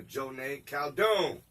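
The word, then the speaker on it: Joneigh Khaldun: Joneigh Caldoon.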